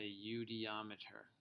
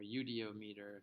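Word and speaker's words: eudiometer: volume so this is called a udeometer or udo meter if you pronounce it the way it's spelled now we're going to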